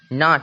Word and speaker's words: knot: KNOT, नाट मतलब होता है गांठ, देखिए एन के ठीक पहले के है, तो के का कोई साउंड, के का कोई उच्चारण नहीं निकला, नाट मतलब होता है गांठ।